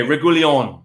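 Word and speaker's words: Reguilón: Reguilon. Reguilon. Accent on the O means you go harder there. Okay, Reguilon.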